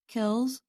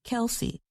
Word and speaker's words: Kelce: Whether Kelsey should be pronounced with one or two syllables, Kels or Kelsey has been a subject even his own family talks about.